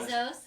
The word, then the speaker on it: Bezos: Bezos. What's that? You got it from Bezos. It rhymes with Blef Schmezos.